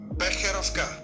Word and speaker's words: Becherovka: It comes from Carlo Vivari, and I think it is pronounced Becherovka. And I have no clue if I'm pronouncing it well, even though I listen to my friend Drahos, who's from the region and knows about it. And that's the way you pronounce it.